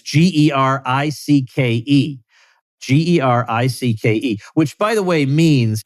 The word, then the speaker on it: Gericke: Gericke, which, by the way, means it was not originally pronounced Garrick, but you guys just gave up on anybody trying to figure it out.